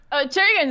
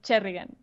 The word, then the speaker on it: Cherrigan: That's Cherrigan, whose name I cannot pronounce because I cannot roll my R's. Maybe you can pronounce it for the audience? Cherrigan is fine, but maybe you should try Cherrigan. Cherrigan.